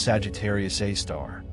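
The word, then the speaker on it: Sagittarius A*: At the very heart of the Milky Way lies something extraordinary and terrifying, a super massive black hole called Sagittarius Asterisk, pronounced Sagittarius A star.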